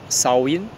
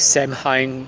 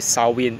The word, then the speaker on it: Samhain: It was originally the festival or Sow-in. I mean, it's pronounced as Samhain by some people, but it's actually Sow-in according to the Celtic pronunciation in the Celtic, Irish Celtic tradition.